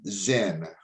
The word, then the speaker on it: Sin: a moon god named zinn which it's pretty it's it looks like sin but it's actually pronounced zin so this angered the